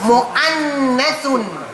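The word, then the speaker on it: مؤنث: Mu'annathun. Mu'annathun. You don't pronounce the waw, you go from mim into the hamza, and then join in there, mu'annathun.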